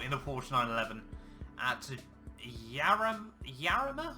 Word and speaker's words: Jarama: It's going to be the Autolando Sport in the Porsche 911 at Jarama, I'm going to guess, because you don't pronounce J's in Spanish.